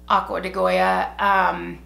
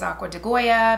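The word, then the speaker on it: Acqua di Gioia: aqua de Goya this is and it is pronounced aqua de Goya the men's version of it I always thought it was pronounced aqua geo it's actually pronounced aqua to Joe and this one is aqua de Goya because I did training on it so I'm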